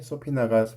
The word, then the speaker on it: subpoena: 그래서 소피나라는 게 있는데 소피나가 스펠링하고 다르게 발음이 B가 또 묵음이고요.